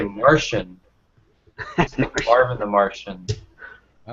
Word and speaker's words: Marcion: And James White says Marcion, like it's SH, Marcion. Yeah, I've heard guys say Martian.